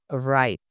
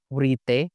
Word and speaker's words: write: dibaca night kan sama contoh lainnya adalah kata write atau menulis itu dibacanya Bukan wiite tapi dibacanya right gitu kan kayak huruf k